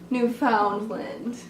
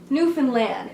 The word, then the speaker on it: Newfoundland: You don't tell a newfie something about Newfoundland. It is pronounced, if you were wondering, Newfoundland. Emphasis on land.